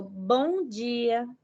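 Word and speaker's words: bom dia: say to them is mongia when pronouncing the m i find that it's more like a softer sound like you don't pronounce the m really strong at the end of the word so bonji good morning but if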